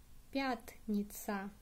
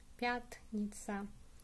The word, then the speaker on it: пятница: And Friday in Russian would be пятница. Пятница. Stress on the ya.